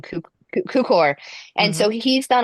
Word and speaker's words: Cukor: And so it's done by it's directed by George I'm going to say his name Tukor. wrong, Cukor.